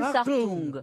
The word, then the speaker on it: Hartung: Hans Hartung. Hans Hartung. Bravo, monsieur Benichou. Ça s'écrit comme attention.